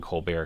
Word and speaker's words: Colbert: Z colar Colbert coar I'm saying colar because I think it's spelled like Steven colar Co you know Colbert um but it's Steven colar so I'm just going with that I don't know if